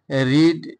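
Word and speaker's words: read: খবর শুনবো আই এম রিড a story আমি গল্প পড়ি আই রিড আই রেড a story এই যে পাস্ট এন্ড পাস্ট পার্টিসিপল রিডেড হ্যাঁ স্পেলিং একই থাকবে কিন্তু উচ্চারণটা হবে রেড আই রেড a story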